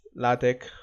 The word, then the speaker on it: LaTeX: you okay so what is la tech so la tech is pronounced as la tech okay and then it's a to use to